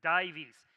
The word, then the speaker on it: Dives: close very very close divis dives is how you pronounce the title if you saw it on slack or facebook divis that comes well it's a it's a latin word that means rich right it's and if